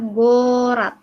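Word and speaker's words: город: Gorat, bacanya Gorat.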